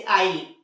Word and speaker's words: isle: उसी तरह से आइल, ISLE, आइल, ऑयल मतलब होता है द्वीप, तो